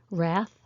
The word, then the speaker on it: wrath: a type of bird wrath anger these are all silent w words be careful with these